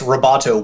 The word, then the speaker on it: Roboto: Facebook, but I guess Roboto Will is also from Facebook. So, but that's where my confusion with that was because you were saying Roberto.